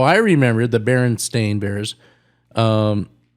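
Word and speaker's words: Berenstain: would correct and go, "No, it's the Baron Stain Bears." And she goes, "The easy way to remember it is the authors are also Stain."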